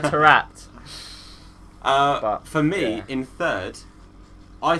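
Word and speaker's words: Taarabt: To Neil, you've got to say Tarabat, because he still, to this day, I don't think knows how to say his name. Tarabat. Tarapt, Neil, right? It's Adel Tarapt.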